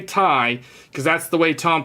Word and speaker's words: Ti: sound that it was just weird man 3090 tie the 3090 tie yes I say Tai because that's the way Tom Peterson would pronounce it uh Jensen will say TI some